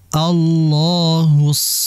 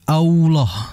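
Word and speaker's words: الله: dan dari segi pengucapan lafaz Allah ini jangan sampai kita membacanya seperti Allah seperti ada huruf wau Allah jangan jangan Allah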